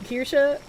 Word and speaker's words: Kirsche: There's a women's rugby player this year with the last name of Kirsche, who rhymes with Hirschi.